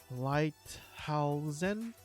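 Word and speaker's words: Lighthalzen: The update introduces a city of Lighthausen, that's how you say it, with new quests and NPCs, as well as 2 new dungeons for high-level characters.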